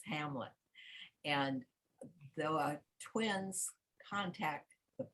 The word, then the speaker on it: Hamnet: judith and hamlet and it's spelled in the old english-spelling hamnet but it is hamlet and the twins contact